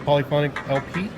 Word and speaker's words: Polyphonic LP: I'm sitting down with Sam from Polyphonic LP. You pronounce that correctly?